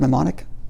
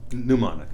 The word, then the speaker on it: mnemonic: That's the word mnemonic? Mnemonic. Mnemonic, thank you. Mnemonic. You don't pronounce you don't pronounce the... Yeah. Don't pronounce the M.